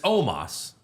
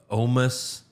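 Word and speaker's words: Omos: funny about it's uh even bronze pronouncing because it's Omas it's Omas but he like bronze said like omis homeless oh bless bring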